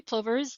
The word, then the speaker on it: plover: And did I pronounce that right? Plover? You plover? did? Yep, okay, plover.